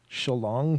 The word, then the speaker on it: Shillong: It's Shillong. I can even spell it in Don laughs.